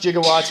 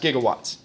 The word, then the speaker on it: gigawatts: It's not pronounced gigawatts. It's pronounced g pronounced gigawatts. But they had no one, they've admitted this. They had no one on the entire set that knew how to pronounce giga.